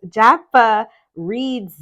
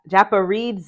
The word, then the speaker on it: Japaridze: name all right so it's Jaffa reads A japa reads uh ah look at that I was struggling y'all Japanese tarot okay yes has four syllables the accent is primarily on the